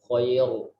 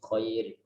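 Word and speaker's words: خير: Kita membacanya bukan khair, tapi khair.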